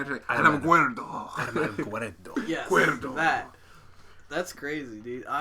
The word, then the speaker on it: Alamogordo: Alamogordo? Gotta- Wait, I gotta say it when I say it. Alamogordo.